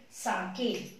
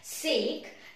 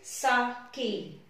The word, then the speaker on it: sake: Okay, and his father one day wished to take sake. Now this, you will not pronounce it as sake. The pronunciation of this word is sake.